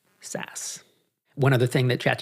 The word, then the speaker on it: SaaS: techit track I think it's it's pronounced is in fact SAS.